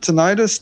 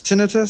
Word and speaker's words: tinnitus: little bit of um how do you pronounce this word tinnitus tinnitus yeah tinnitus i i always thought it was tinnitus but tinnitus i have a tiny